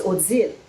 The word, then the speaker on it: Odelle: My grandmother's name was Odelle, but the way you say her name in French is aux îles.